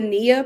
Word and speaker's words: NIA: So it's called the NIA Project. So that is at Grady Health. How do you spell that? And like NIA, like the Swahili word for purpose.